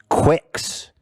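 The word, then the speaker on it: QUX: ironically it actually is supposed to be pronoun pronounced quicks it's spelled q-u-x and it stands for Quantum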